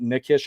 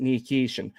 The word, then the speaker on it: Nikishin: The reason why I was pronouncing it nikish before when I would watch the footage, when